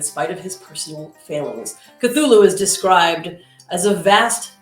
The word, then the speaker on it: Cthulhu: of the elder gods so cthulhu is how i will pronounce it although i believe it is properly ketur now if you are